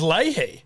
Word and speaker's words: Leahy: Is it Leahy? Yeah, it's actually how it's pronounced, I believe. It's Leahy. Yeah, I believe Since when? I think it's always been.